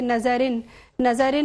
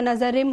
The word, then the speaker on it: نظرم: آپ نے فارسی کلام پیش کیا, اس میں کچھ مسٹیکس تھیں تلفظ کی, جیسے آپ نے پڑھا کہ نظرن نہیں ہوتا, نظرم ہوتا ہے, ٹھیک ہے, اس طرح کی اور 2-4 غلطیاں تھیں.